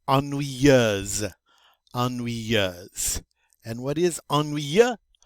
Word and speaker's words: ennuyeuse: In the masculine, in the feminine, it's ennuyeuse.